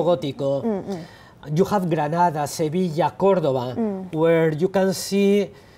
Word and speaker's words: Sevilla: You have Sevilla. Yes. Did I pronounce it correctly? Yeah, Sevilla.